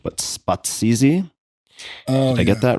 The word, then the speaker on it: Spatsizi: and I'm most certainly going to butcher this pronunciation, but Spatsizi? Oh, Did I get that right? Yeah, Spatsizi, red goat.